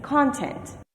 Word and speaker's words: content: I'll say it again, content. Now let's look at the same word with a different pattern. Content. Now the primary stress is on this second syllable. Content, which means to be peaceful, satisfied.